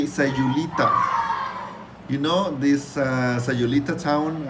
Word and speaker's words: Sayulita: The correct one is Sayulita.